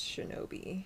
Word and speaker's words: shinobi: And then in the native kunyomi reading, it's pronounced shinobi.